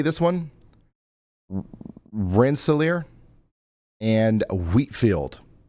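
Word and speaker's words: Rensselaer: Renelier and Wheatfield. A new tornado warning has been issued. Rinsolair.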